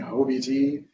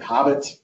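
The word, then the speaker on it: HoBT: time in my head I was prancing a hoe BG until the Microsoft engineer told me that they pronounce it Hobbit so great that stands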